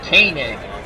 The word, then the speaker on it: Koenig: So Koenig is pronounced Koenig.